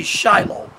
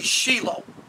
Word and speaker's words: Shilo: Sheila now in the West Christians would say Shiloh but the proper Hebraic pronunciation would be Sheila and we know that Sheila was where the